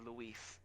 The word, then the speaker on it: Luis: nope they said they always call me louis and i never correct anybody to say that it was luis how are you doing